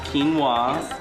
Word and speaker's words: quinoa: preparing or the dish we're preparing is our quinoa dish and not a lot of people know about that and or how to pronounce it or how to pronounce it it is pronounced quinoa and um I had my lesson before I